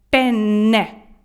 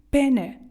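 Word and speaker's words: penne: там не просто так італійці не просто так ставлять подвійні букви тому уважно читайте як тільки їх бачите вимовляйте їх в іншому випадку ви ризикуєте в ресторані замовити не перме пенне перфаворе ви можете замовити чоловічйстатевий орган розумієте чи ні Якщо вимовити це з одною буквою н пене так не говоримо а як правильно пене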